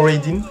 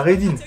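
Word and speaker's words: Ridin: En 12e position, le son Raidin. Ça s'écrit R-I-D-I-N, mais c'est pas d'une meuf.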